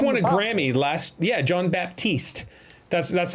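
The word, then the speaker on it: Jon Batiste: guy he just won a Grammy last yeah John Baptiste that's that's how he pronounces it for him um he's a dude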